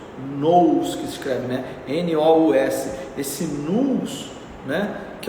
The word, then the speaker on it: nous: própria alma, nós poderíamos dizer, que é esse nous que se escreve, né? N-O-U-S, esse nous, né?